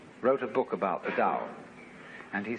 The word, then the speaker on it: Tao: is all the Dow t AO pronounced Dow in the Mandarin dialect Tao in the chung